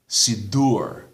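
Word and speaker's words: סידור: As a general rule, the accent, the stress, the emphasis is on the final syllable. Shabbat, Siddur, the word for custom, minhag.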